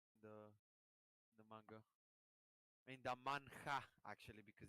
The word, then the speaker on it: manhwa: H is silent, so it's it's manhwa. Yeah, but it's written manhwa, right? Manhwa. Oh, manhwa. Okay, manhwa. Yeah, but it's pronounced manhwa.